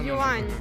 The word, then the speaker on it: yuan: It's not yen, right? Is it yen? No, Yuan. Is it? Yuan. It's yuan in Oh. Russian. Yuan? Good pronunciation.